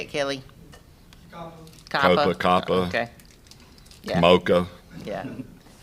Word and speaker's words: COPPA: It's COPPA, or isn't that how you say it, Kelly? COPPA.